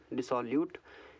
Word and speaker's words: dissolute: डिसॉल्यूट क्या है इसका प्रोनाउंसिएशन?